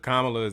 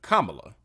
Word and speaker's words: Kamala: day still don't know, the correct pronunciation, not that anybody cares, but for the sake of this video, I'll make sure that you know, is Kamala. It's that simple. Not even going to repeat it because you're probably going to hear her name a couple times during this video. So real simple, Kamala, and a lot of people mispronounce it.